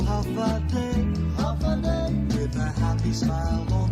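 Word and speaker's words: Håfa Adai: Just pronounce it as in half a day.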